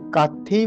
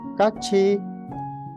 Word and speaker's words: 같이: to memorize the server so kathi will be pronounced as Kachi Kachi Kachi okay see once again